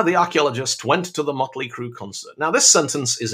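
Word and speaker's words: Mötley Crüe: playing in germany and the crowds are shouting mercury crew mercury crew and the band have no idea why are they getting our name wrong dude it's like because you're spelling your name with different letters because you think it looks cool now making motley crew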